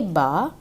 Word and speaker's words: bas: The ending letter we won't pronounce. So ba, ba.